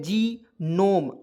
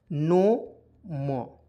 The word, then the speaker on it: gnome: यहाँ देखिए जी नोम, अब कहिएगा बहुत लोग जो है जीनोम पढ़ लेता है, देखिए GNOME जी नो मो, तो जीनोम पढ़ना क्या है दोस्तों, गलत है। जीनोम नहीं पढ़ेंगे क्योंकि जी जो है साइलेंट रखेंगे, एन ओ से होता है नो, एन से होता है ना, ओ से ओ की मात्रा, एम से होता है म, तो क्या पढ़ेंगे नोम, तो जीनोम, ठीक है।